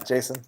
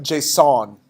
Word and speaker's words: JSON: starts the j yeah Jason there you go it's pronounced J song dot stringify takes one